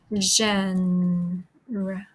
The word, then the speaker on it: genre: Um, so it is a French word, and that is why you pronounce it genre.